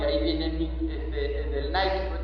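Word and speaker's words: Νίκη: La palabra Nicolás viene de Nikao, y ahí viene del Nike. Nike porque lo pronunciamos en inglés, pero es Nike en griego. En griego es Nike, en inglés es el Nike.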